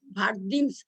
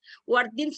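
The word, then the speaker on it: Wertheim: ভার্দিন হিস্টেক্টমিটা কি, WERTHIM, ভার্দিনস, ওয়ার্দিনস না, অনেক সময় ওয়ার্দিনসও উচ্চারণ করে অনেকেই, কিন্তু এটাকে ভার্দিন সিস্টেক্টমি বলে। রেডিক্যাল হিস্টেক্টমি আর ভার্দিন সিস্টেক্টমি।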